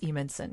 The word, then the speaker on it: Evenson: spelled strangely, but it's Evenson.